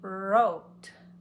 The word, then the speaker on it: wrote: up for the r he wrote it the wrong way so the W is silent I didn't go woo read it with me